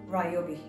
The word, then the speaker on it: Ryobi: can check easily i say ryobi in japanese way it's called ryobi in here or in